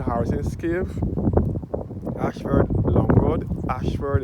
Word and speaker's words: Ashford: Ashford is spelled Ayshford. That is the road leading up to the cave.